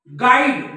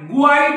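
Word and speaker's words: guide: यु नंतर कोणता आहे आय गाईड गुईट नाही गुईट नाही गाईड बघा या यु नंतर इथं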